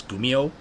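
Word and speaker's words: kumiho: it's just it's k-u-m-i-h-o but that K is pronounced as a g so it's gumio they're the same as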